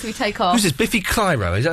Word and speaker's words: Biffy Clyro: Biffy Clyro, is that how you say it? Yeah. Biffy Clyro, yeah.